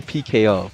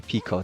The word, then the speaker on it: Pico: I was going to call you PKO, but now that I know I could just call you Pico, that makes it easier on me. Pico. two syllables instead of PKO, 3 syllables.